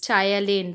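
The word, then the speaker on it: ptyalin: is nothing but amylase tyaline p is silent over here which helps in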